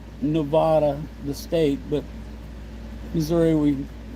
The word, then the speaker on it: Nevada: Nevada is spelled like Nevada, the state, but Missouri we we pronounce it Nevada.